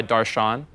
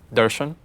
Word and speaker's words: Darshan: But technically, the correct way to pronounce my name is actually Darshan. There's like a, yeah, like that's just the correct way to pronounce it.